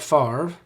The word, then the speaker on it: Favre: Number one, it's the home of Brett Favre, whose last name and spelling and pronunciation do not match.